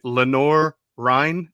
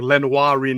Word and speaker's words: Lenoir-Rhyne: named Kyle Duggar from, I hope I pronounced this college right, Lenoir-Rhyne in North Carolina. Correct. It's okay. I was afraid it was like Lenoir-Rhyne or something like that.